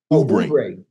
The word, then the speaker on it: Oubre: Oubre. Well, why he got an O there? Shit. It's silent.